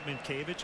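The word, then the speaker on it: Mientkiewicz: then i-e again w-i-c-z at one time i just wrote m i n t k a y v i c h mint cavities phonetically that's right i just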